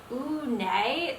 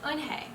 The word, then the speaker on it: Eunhae: "Ooh, nay?" the girl asked, scrunching up her face. "Ooh, nay," some kids chanted. No, Eunhae corrected. It's spelled U-N-H-E-I. It's pronounced Eunhae.